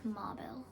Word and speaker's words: mobile: American accent में मोबाइल बोलते हैं. Okay. Can you repeat? Maybe a little louder. In America, we say it like mobile.